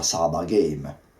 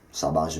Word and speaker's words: sabage: allora ho capito che si chiamasse Survivor game addirittura Saba game sabaj Village eccetera eccetera per errate pronunce del inglese barra giapponese il secondo punto è